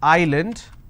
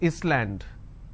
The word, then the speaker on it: island: i have a word which is island i don't pronounce this as island so s is silent here okay for example if